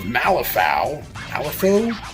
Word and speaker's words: Malifaux: Some of the buildings of Malifaux, that's how you pronounce it, to be building all this.